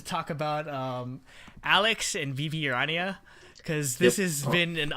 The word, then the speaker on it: Rania: Yeah, that is what I call apparently it's pronounced Rania from what I heard.